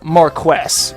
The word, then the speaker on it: Marquess: I'm gonna imagine that a lot of people are gonna be saying it's more kiss not Marquess and honestly that is actually what I fought for quite a long time as well but then I did some research have found out that at least in British English it is pronounced more quests I mean you can